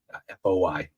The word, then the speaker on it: Foy: of Bastogne, the 101st is camped outside Foy, F-O-Y, pronounced Foy.